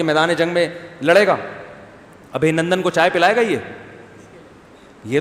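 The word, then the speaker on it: अभिनंदन: ابھی نندن نہیں ہے، صحیح تلفظ کیا ہے بھائی؟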